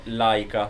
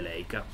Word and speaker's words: Leica: del professore in tedesco, perché in tedesco il dittongo EI si legge AI, quindi è Laika se lo si vuole dire alla tedesca, se no lo si dice all'italiana ed è Leica.